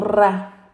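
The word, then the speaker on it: רעה: Lo pronunciamos nosotros como Ra. Ra es pastor.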